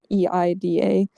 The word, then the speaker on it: Ada: And then with Ada's name as well, even though it's Eida, like in Japanese, there is the English spelling of Ada to pronounce it, or to make it sound like it's supposed to be pronounced Ada, because that's, I think,